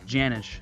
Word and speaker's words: Janisch: Yeah, it's Janisch. Janisch. I don't want to mess it up because you know the S could That's be nice. silent and stuff. Could be all messed. Yeah, the C is silent.